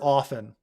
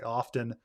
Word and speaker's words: often: right um I I for the word often I don't pronounce the T probably half of Americans pronounce the T half of Americans don't half of Americans probably say often half of Americans say